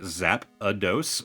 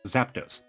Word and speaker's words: Zapdos: Kid me grew up pronouncing it Zapados like Z- A P A D O S